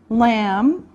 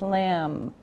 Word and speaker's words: lamb: general group beef beef lamb lamb now remember the B is silent no sound just lamb okay chicken chicken fish